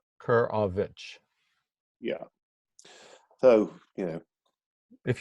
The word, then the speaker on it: Korowicz: slowly for the americans well kerr of itch yeah kurovich yeah so you know